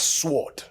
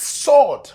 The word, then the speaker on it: sword: That's how we were in church the other day and she kept pronouncing the word sword as sword. I'm like, it's sword, not sword. The W is silent.